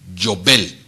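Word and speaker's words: יובל: Cuerno de carnero en hebreo se pronuncia Yobel.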